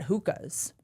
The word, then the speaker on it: Hoka: Every time I try to talk about them No one says Hokas. then I get shamed for mispronouncing the name? Hoka.